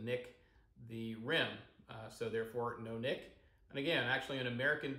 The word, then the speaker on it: nonic: I call it a nonic pint, and I think that's the closest way to pronounce that to probably what was intended.